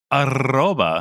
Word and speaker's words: Arroba: Arroba. Yep. Tabletop Gold. Tabletop Gold. I'm so jealous you could roll your R's. That R was rolling a long way.